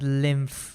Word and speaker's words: lymph: And it's pronounced as lymph with an F over there.